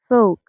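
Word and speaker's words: folk: তো বেশিরভাগ শব্দেই এল এর উচ্চারণ হয় না যদি এল এর পরে কে থাকে, এম থাকে এবং এফ থাকে।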